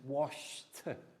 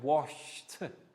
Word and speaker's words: washed: like the d but washed is like d as t so one more time excellence washed one more time guys washed is the correct pronunciation of e d as the t sounds so well done park